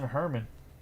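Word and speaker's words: Germán: then we have Franklin Herman German German I believe his name's like a soft G like the Herman for the white socks and that's going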